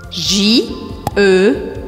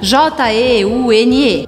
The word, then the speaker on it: jeune: J-E-U-N-E. Ou seja, J-E-U-N-E. Bom, a gente já viu que a letra E ao final da palavra eu não pronuncio, então pode barrar essa letra.